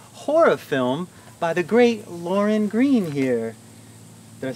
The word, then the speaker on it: Lauryn Green: of an LGBTQ horror film by the great Lauryn Green here. Did I say your name wrong?